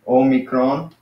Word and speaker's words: Omicron: so Oh me Kron so that's like small oh but now this one